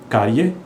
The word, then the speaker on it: cárie: E-A, na verdade, na pronúncia é I. Então, é área. Série, ye. Cárie, ye.